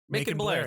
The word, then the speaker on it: Macon Blair: Macon Blair, thank yeah. you. You're right. Making Because Because it's spelled like bacon, pancakes. but with an Make the M bacon instead of and a B.